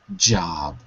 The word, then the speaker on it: job: sound good and also one other word job with a DJ together job yup j j j that's it that was